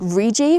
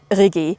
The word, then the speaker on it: Rigi: that I was climbing, I said Rigi, which is the most English pronunciation. It's obviously, I think, called Rigi.